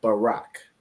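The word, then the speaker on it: ברך: rough so those are the three letters b r and C but that's not how you pronounce this word so if you remember from the Paleo this word is Barack so in the Paleo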